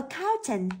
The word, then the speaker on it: accountant: salary D accountant accountant vậy trọng âm từ A accountant rơi vào âm thứ hai rơi vào từ count Vậy thì chúng ta